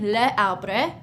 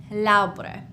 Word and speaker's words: l'arbre: So instead of saying le arbre, we would say l'arbre, okay?